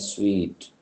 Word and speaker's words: suite: Both words are pronounced alike. Air. The last, sweet and sweet. Sweet and sweet.